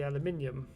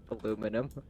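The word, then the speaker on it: aluminium: should have said is why not pronounce the eye aluminum aluminum you've got an extra eye and we pronounce it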